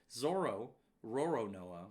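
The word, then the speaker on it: Roronoa Zoro: Oh my god, his name is so hard to pronounce. Zoro Roronoa.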